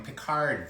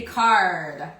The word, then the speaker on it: Picard: We had done Sarah Donnelly is a comedian in Paris, and last summer we tested some of the frozen foods from Picard, the French frozen food chain.